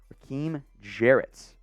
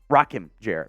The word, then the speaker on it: Rakim Jarrett: Raheem Jarrett next up here on the list out of Maryland. That's a fun photo for him, too. Or excuse me, Rakim Jarrett. My bad, mispronounced it.